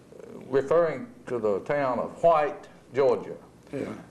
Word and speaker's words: White: it's spelled W-H-I-T-E, according to the way folks say it today. Yeah. And if you say it with an S on the end of it, you may be considered to be a little